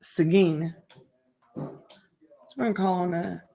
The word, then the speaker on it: Seguin: is pronounced here in Texas this town is pronounced Seguin so I'm calling a Seguin Texas Lee although I want to call it